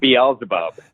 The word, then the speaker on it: Beelzebub: while so it's alright belzebub or is it balelo's above how do you how do you pronounce it Beelzebub there you go I just I know